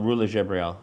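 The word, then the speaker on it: Rula Jebreal: based on a book uh how do you pronounce ruler than Jael uh ruler jabriel jabriel it's premiering at uh Toronto uh and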